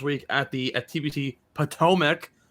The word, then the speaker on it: Potomac: the at tbt potomac or um potamac as john called it before i um quickly let him know exactly how you say it hot potomac atomic bomb potomac maryland right on the potomac river is where we will find tpc potomac yes potomac potomac bomb but paw mac no it's plateau well actually